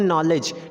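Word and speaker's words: knowledge: होना ही होना है अगला बटन नॉलेज नॉलेज में कहा कि बार फिर अनारा एन के बाद फिर वह गया है तो यहां पर भी के साइलेंट होना है तो के कप साइलेंट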